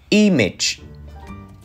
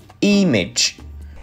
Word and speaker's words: image: ý nhé kiểu này Mình đọc là email chứ không phải là gì mây nhé image image Vậy thì ngày hôm